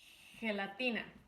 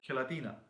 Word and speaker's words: gelatina: gelatina.